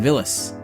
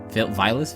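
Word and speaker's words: Villads: that good stuff captain villas vilas phyllis villains the d is silent that's the important part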